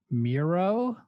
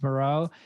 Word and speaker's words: Muro: 1987, directed by James Muro. Even though it's spelled Muro. Muro. The Island of Dr. Moreau. Yeah. Well, today's movie. Shut up. Today's movie is Street Trash, 1987, directed by James Moreau and written by Roy Frumkes.